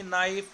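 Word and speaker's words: knee: तो के is silent, means देखो के डबल एन डबल ई, नी बोलते हैं इसे, के की आवाज़ नहीं आती है।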